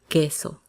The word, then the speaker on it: queso: That U after the Q is silent. So pretend that it's not there. Alquilar. Queso.